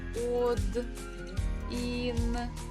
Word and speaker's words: один: So the stress actually falls on E, and O is unstressed, so we pronounce it as letter A. But we have to spell it while we're writing with O. But just reading with A.